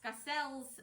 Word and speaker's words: Skacel: Scel, which we had to ask them how to pronounce that, so don't worry. We did it right.